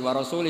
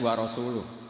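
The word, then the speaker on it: وَرَسُولُهُ: Terus sama Sayyidina Ali dibenarkan, yang benar bacanya itu wa rasuluh. Allah bari minal musyrikin, wa rasuluhu bari'un aidan.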